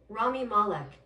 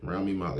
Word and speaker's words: Rami Malek: How do you pronounce his name? Rami Malek. Yeah, Rami Malek.